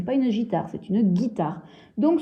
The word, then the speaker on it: guitare: une guitare c'est une guitare donc ce petit eu là je vais m en briser puisque on ne l'entend pas à le ici il y est mais ne se prononce pas c'est une être muette